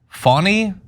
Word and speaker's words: Fani: Nathan was the special, in more ways than one, prosecutor engaged by Fani," pronounced Fani Willis, I guess.